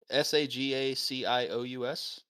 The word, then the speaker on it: sagacious: don't know this word segocious how do you spell it it's s-a-g s-a-g-a-c-i-o-u-s sagacious sagacious interesting have a sagacious space anointed